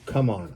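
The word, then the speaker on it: CMON: Is it Simon or come on? I've heard it pronounced both ways. I've always heard it, not always, but I've more often heard it Simon.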